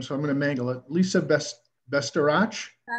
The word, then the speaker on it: Bastarache: Second, we have Lisa, and I asked her how to pronounce her name, so I'm gonna mangle it. Lisa Bastarache. Bastarache, thank you.